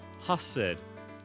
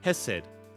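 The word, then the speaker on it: Chesed: It's pronounced hassid. Hessid hessid roughly. I'm sorry I can't help but chuckle cheese. If it's pronounced hessid, why does he have a C at the start?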